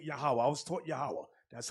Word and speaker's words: Yahweh: there is uh they may say some say Yahweh some say Yahoo I was taught Yahweh that's how to pronounce it now you see the symbols these